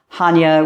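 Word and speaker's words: Chania: the island of cre and the City of Hana a lot of people spell say CH so it's chi c h n i a it's actually pronounced Hana where the sea is silent man what a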